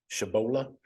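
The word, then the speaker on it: Tshabola: um Zen mahalski versus Tegra shabola uh I think the t is silent uh some some guys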